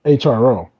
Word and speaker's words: HRO: on that the the app's name is hro so we're assuming that it means hero has anybody heard it pronounced did they pronounce the hero yeah he's going to pronounce hero yeah okay so i